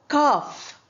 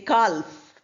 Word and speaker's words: calf: Calf, we don't say calf, we say calf.